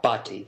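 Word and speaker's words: Bhatti: how do you say your name sir uh bti is my last name okay thank you Dr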